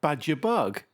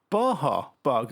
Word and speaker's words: Baja Bug: anti-climatic isn't it i'm gonna go for the badger bug or baja bug as i've recently found out it's pronounced 1969 a-class champ new tune this is